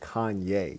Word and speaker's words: Kanye: First off, my boy, can you just pronounce his name like we all know it's supposed to be pronounced Kanye. You don't get to create a pronunciation.